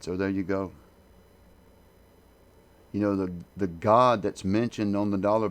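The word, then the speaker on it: גד: You spell that Gimel Daled, and it's pronounced God.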